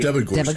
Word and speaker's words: Debogorski: Is it Debogorski or Degorski? Debogorski.